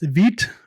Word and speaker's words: Vite: And again, vite is the French word for fast or quickly and is pronounced vite. I know I was pronouncing it vite at first.